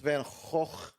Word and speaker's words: Van Gogh: How do you pronounce Van Gogh? It's Van Gogh.